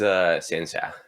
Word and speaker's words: xianxia: pardon my likely mispronunciation, but it's xianxia.